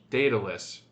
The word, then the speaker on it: Daedalus: Not to be confused with the Enterprise episode of Detalus. It's pronounced Datalus.